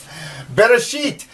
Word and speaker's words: Bereshit: You can sound it out. Beit, ba, resh, ar, aleph. They actually say it's a silent letter, and you don't... It sort of gives the A sound.